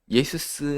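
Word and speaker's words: Ἰησοῦς: 하나님이 구원하신다는 여호수아가 더 광범위한 뜻인데 그 헬라어로 발음할 때는 똑같아요. 예수스입니다.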